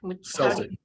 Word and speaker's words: Celtic: Asset-Based Lending at, Daniel, is it Celtic or Celtic? Celtic. You pronounce it Celtic. Okay, great. Yep. You're Get up. asked that a lot, but yeah, we say Celtic.